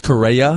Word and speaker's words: Correa: But, we'll see how Carrera can come back.